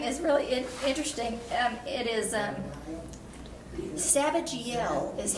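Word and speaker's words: Zabdiel: It is Sabajiel is how you pronounce that. Sabajiel.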